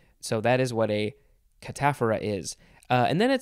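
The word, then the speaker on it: cataphora: catamaran catamenia catamite catamount catamountain cat and mouse cataphara that's how you say that word catapharesis and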